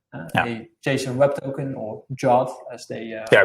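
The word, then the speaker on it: JWT: JSON web token or jot as they yeah we should pronounce it as jot right that's the hip way to do it indeed indeed.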